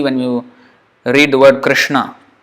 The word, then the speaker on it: Krishna: you read the word Krishna. That S with the dot below is pronounced sh, like Velar. Ka. In that position of ka, but sh. So the air is forced through that sh.